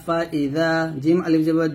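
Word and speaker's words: فإذا: জা আ ফা ইজা এই জাল উচ্চারণটা করবেন জিহ্বার আগা সামনের উপরের দুই হাতের আগার সঙ্গে লাগিয়ে এই জালটা উচ্চারণ করবেন আর এই জাটা জিমটা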